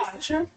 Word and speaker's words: Worcestershire: It is Why? Worcestershire. Worcestershire? Yeah. I watched It's not Worcester because I'm But why from. is it Worcestershire?